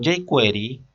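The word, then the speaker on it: jQuery: no programar desde cero lo que es query se escribe la jota iker y entonces con jake query ya prácticamente acudimos allí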